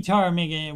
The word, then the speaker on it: Ptarmigan: Ptarmigan. We've also seen this Ridge Ptarmigan Ridge Trail. Maybe a silent P there.